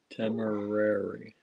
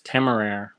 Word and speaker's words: Temeraire: Marion says, temerary. I don't think that's how it's pronounced. It's temeraire. I don't know. I'm listening to the audiobooks. So how are they pronouncing? It's French.